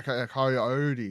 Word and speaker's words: Coyote: Would you say of Cody course- versus Roman? No, Coyote versus Acme. Right, Coyote.